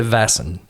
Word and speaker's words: Vaesen: That's about as close as we're going to be able to pronounce, but Raasmus on the Discord said it's closer to Vassen.